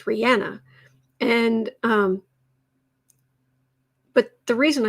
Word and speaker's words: Rihanna: like that for example rihanna is rihanna it's not rihanna and she herself says don't call me rihanna my name is not anna it's rihanna and um but the